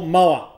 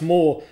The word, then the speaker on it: Moa: i like to call mower but i think it's actually pronounced more but it's spelt moa so i'm going to